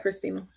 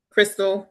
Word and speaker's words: Crystal: Christina, did I say it right, Christina? Crystal, I think Crystal.